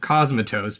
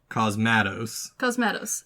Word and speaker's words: Cosmatos: I've pronounced it Cosmatos because it sounds badass, but it's actually Cosmatos.